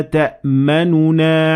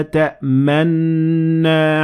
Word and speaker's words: تَأْمَنَّا: Here you have actually two choices. The first one is to fully pronounce the noon. So you'd say, مَا لَكَ لَا تَأْمَنُنَا عَلَى يُوسُف. Or you don't pronounce the first noon, and you would instead put your lips in a position as if you pronounce the noon, and it would sound like this.